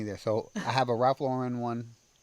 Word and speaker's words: Lauren: I have a Ralph Lauren one.